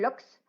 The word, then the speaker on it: loch: Sí, Meli, los lochs, los famosos lochs, que los lagos en Escocia se llaman lochs, tienen una forma muy peculiar de pronunciar los escoceses y para ellos son lochs en vez de lakes, como dirían los británicos o los americanos.